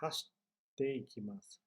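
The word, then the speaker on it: 走って行きます: Não é hashite ikimasu, não é hashite ikimasu, não, é hashite ikimasu. Dá uma pausa e uma martelada na próxima sílaba.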